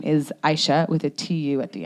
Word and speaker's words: Aisha: was born there um my name aisha is very very popular in nigeria um that pronunciation not so popular here everyone's like or they're like alicia they just add letters that aren't there one time i came